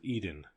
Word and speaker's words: Eden: for it led nowhere the word was Eden to rhyme with seed in there were other fields